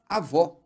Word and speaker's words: avó: Por exemplo, a mãe da sua mãe é a sua avó. Também é uma palavra que tem duas sílabas. E a última sílaba é a forte.